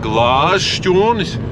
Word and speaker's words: Glāžšķūnis: Now we are in a very interesting place - it is called "Glāžšķūnis"! Shoutout to everyone who is watching from Glāžšķūņa. Did i say it right? - I Think, yes. - Glāžšķūnis!